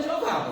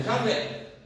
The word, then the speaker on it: Javé: Jeová é na verdade uma tentativa de transformar esse essas quatro letrinhas, arrumar uma pronúncia para elas. Mas os estudiosos que conseguiram voltar mais atrás e pesquisar mais, dizem que o melhor não é Jeová, mas é Javé.